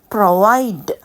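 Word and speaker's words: provide: ப்ரொவைடடுக்கும் உச்சரிக்கைக்கு கவனிக்க வேண்டும் இந்த ப்ரொவைட் வந்து பி ஆர் ஓ வி ஐ டி இ தானே இதுல கடைசில வர ஈ க்கு சவுண்ட் வராது அந்த முன்னுக்குள்ள டி தான் சவுண்ட் வரும் ப்ரொவைட் ப்ரொவைட் பாருங்க இட் என்று தான் முடியும் இப்போ டிக்கு தான் அங்க உச்சரிப்பு இருக்கு க்கு உச்சரிப்பு இல்லை ப்ரொவைட் இட்ன்னு முடியும் பாஸ்ட் டென்ஸ்ல சொல்லிருக்க ஈடி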